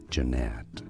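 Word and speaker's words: Jeannette: tuned to learn more Jeanette Pennsylvania Jeanette stress on the second syllable Jeanette and now you know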